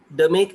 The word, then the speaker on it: DMAIC: So it's like the make, Demek and Demedvi. So these are the two, the way they pronounce it basically.